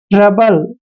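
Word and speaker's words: trouble: है तो बी का ओ यू का उच्चारण हम नहीं करते हैं और बी का उच्चारण हमने ब लिखना है एल ई को ल पढ़ते हैं ट्रबल ट्रबल ट्रबल क्या होता है ट्रबल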